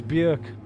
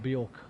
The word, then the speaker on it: Björk: Sorry, I said Bjork. It's Björk. I pronounced the name wrong. I remember learning that a while back. Björk, not Bjork.